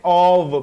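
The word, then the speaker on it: of: एक बात आप इधर प्रोनाउंसिएशन के जुमरे में याद रखें, जब ओ के साथ एफ आता है तो इसे आपने ऑव पढ़ना है, वी की साउंड देनी है, ऑव।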